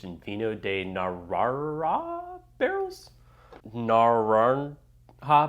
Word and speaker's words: Naranja: vino de nirara barrels Naran ha barrels not dark barrels I still can't pronounce this someone in the comments said the J is an H but my phonetics are terrible it comes in at